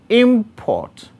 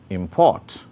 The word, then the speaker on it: import: having the same spelling nouns and adjectives are stressed on the first syllable while verbs are stressed on the second syllable take the examples of